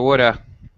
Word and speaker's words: would have: And it's often going to sound, with reduced pronunciation, normal first language speaker, it sounds more like coulda, shoulda, woulda.